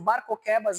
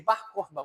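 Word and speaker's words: Bar Kokhba: Barcoquebas é a nossa pronúncia portuguesa de Barcorba, o filho das estrelas, que lá em Números fala, né, sobre Isaque, das estrelas e tal.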